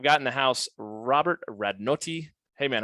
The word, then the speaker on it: Radnoti: Radnoti. You got to roll the R. Radnoti.